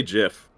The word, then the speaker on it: GIF: Sonic and Shadow are arguing over whether it's gift or Jiff what it appeared sense it's a gift by the way uh I say Jiff okay then how do you pronounce the file